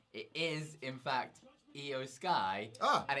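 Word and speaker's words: IYO SKY: it's not eos right it is in fact eo sky ah and it's not io as in the japanese pronunciation of eo it's i y o just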